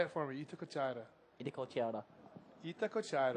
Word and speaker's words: Itacoatiara: You're saying it different now, man. I swear you had more of a cooch about it. Itacoatiara. Okay. We'll get some Brazilians up here to verify my perfect Portuguese pronunciation. Yeah, that Look would at be this perfect.